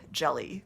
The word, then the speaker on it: Djeli: listed online as p jelly clark and i have butchered that name previously i have since looked up pronunciations um p jelly clark's three books in the